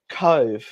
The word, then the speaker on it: Cobh: We're looking at one of the plans is to go down to Cove. Now that's spelled COBH, and that has a strong